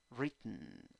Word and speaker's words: written: Y con un puntito en la primera sílaba, I débil, E. Parece E, pero no es E. Parece E, pero no es E. Re. Re. ¿Ok? Y en la segunda sílaba tienes una mini schwa.